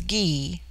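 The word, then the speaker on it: Gy: the singular with man the word for woman is ghee pronounced hard as in guy it forms itself into jaia for the plural but the G becomes soft in the plural like j y Dash e i they have a proverb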